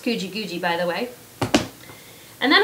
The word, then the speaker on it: Guji Guji: It's pronounced Guji Guji, by the way.